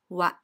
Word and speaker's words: は: This is the ha syllable, but since it is a particle, it is read as wa.